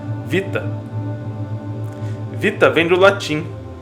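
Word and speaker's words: βήτα: identificar como homem Beta se usarmos a pronúncia do grego moderno temos então um novo som para a mesma letra Vita Vita vem do latim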